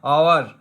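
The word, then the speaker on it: hour: एच ओ यू आर में एच हालांकि consonant है लेकिन एच साइलेंट होता है, इसको बोलते हैं आवर, आवर, आवर मतलब आ की साउंड आ रही है तो एन आएगा।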